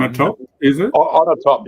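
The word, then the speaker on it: Onatopp: On a top, you pronounce it.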